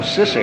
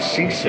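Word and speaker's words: sisig: Oh, sissig. I thought you said seasick. Oh, I did, but I said it wrong.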